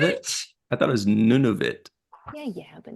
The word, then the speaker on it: Nunavut: Yeah, it's none of it.